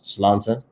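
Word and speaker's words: sláinte: Slánta. You know what? I must confess, I've never known quite how to pronounce slánta. But slánta, yeah. Exactly. You're bang on.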